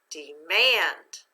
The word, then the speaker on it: demand: Remember, we're going to accent the second syllable this time. Let's read the word accented. Demand.